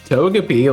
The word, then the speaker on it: Togepi: wrong I would know it if you said Togepi like it's pronounced hey why are you awake man it's